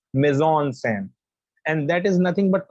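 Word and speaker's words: mise-en-scène: that is the right you don't call it mezean scene it's amazon sam and that is nothing but composition when we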